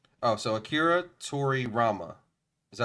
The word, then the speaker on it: Toriyama: If you go to the tab to the right, Oh, so Akira Toriyama. Is that how you pronounce it? Toriyama. Toriyama.